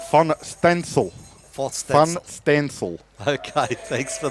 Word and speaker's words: Van Steensel: Nice message from Tim in the Netherlands, saying that the proper Dutch pronunciation of Todd's surname would be Van Stansel.